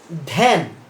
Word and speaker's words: ধ্যান: ধ্যান। দেখো ধ্যান উচ্চারণ। আদ্য জফলার সঙ্গে আকার থাকলে সেখানেও সে আদ্য ইয়েটি যেটির সঙ্গে যুক্ত হচ্ছে সংযুক্ত ব্যঞ্জনটি শ্বাসাঘাত করবে এবং সেটিও একারান্ত উচ্চারিত হবে।